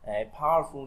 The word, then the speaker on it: powerful: Đấy, rồi powerful, powerful trọng âm rơi âm đầu tiên nhá.